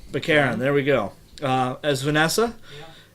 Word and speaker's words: Baccarin: How do you pronounce her last name? I never get it right. Baccarin.